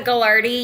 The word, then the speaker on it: Gagliardi: So, it's Galardi. You'll see the spelling. It's doesn't look the way it's pronounced.